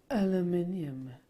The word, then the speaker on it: aluminium: out of the bag aluminium it is aluminium it's not aluminum is it Alum I think the Americans say aluminum don't they